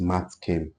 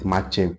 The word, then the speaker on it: Matt Kem: My name is Matt Kem. Like, look at it, Matt Kem. That's the name, Matt Kem. Matt Kem. Some people call it Machem. No, I'm not Machem.